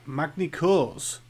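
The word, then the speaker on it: Magny-Cours: and World Superbikes at Magna-Cours. Have I said that right this time? We don't pronounce the S. Oh. French don't pronounce their S.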